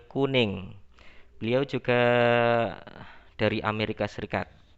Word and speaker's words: Koenig: Jangan Samuel Koenig ya, tapi bacanya Samuel Kuning.